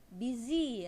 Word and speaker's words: busy: Yang ke-10 kata busy ya. Busy itu sibuk ya, bukan busy tapi ada z-nya. Busy, I'm busy, saya sibuk. Apalagi busy itu salah banget ya. Busy bukan biji, beda, tapi busy pakai z.